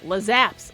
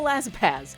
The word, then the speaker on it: Lazaps: I always get this name wrong. Lazaps. I want to go Lazapaz, but I'm trying to be better.